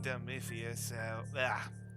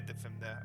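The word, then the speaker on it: Dymphna: Saying Demifius, is that how you say it? Demfiana? Dim- Dimfna? Dimfna? Yeah. Oh yeah, Dimfna.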